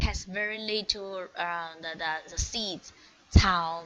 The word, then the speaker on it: 草: Attention, there is say, letter say, right? Say, we read it as ts. Follow me to read that. Ts. Yes, very good. And owl, so that's 草.